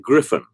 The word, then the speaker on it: Gryphon: to say to you we pronounce it griffin and griffin griffin not